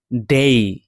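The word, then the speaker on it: day: এখানে এই শব্দটি উচ্চারণ ডে, ডয়কার ডে নয়, ডেই, মানে ডয়কার হ্রস্বই।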